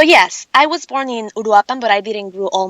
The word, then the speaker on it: Uruapan: It's Uruapan, Michoacán, and you are correct.